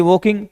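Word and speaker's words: walking: के आई एन जी वॉकिंग तो फिर वॉकिंग बनाएंगे देखो डब्लू ए एल के आई एनजी में एल साइलेंट रहेगा वॉकिंग बोलेगा ये डब्लू तो देखो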